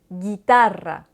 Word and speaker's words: guitarra: Le U est un peu spécial parce qu'il est muet devant le I et le E.